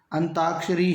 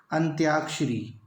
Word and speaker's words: अंत्याक्षरी: हमारे पास अंताक्षरी दोस्तों यह जो शब्द जिसके उच्चारण ज्यादातर विद्यार्थी शुद्ध करते हैं अंताक्षरी ही वह बोलते हैं परंतु याद रखें अंताक्षरी जो शब्द है यह गलत शब्द है शुद्ध शब्द है अंत्याक्षरी शुद्ध शब्द दे अंत्याक्षरी आप अनुस्वार के बाद